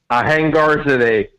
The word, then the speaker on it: Ahangarzadeh: Ahangarzadeh, just like it's spelled.